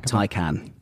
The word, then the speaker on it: Taycan: I genuinely had to ask somebody at Porsche how to pronounce it. So what's the official line? Taycan. Taycan. Even though it's spelled Taycan.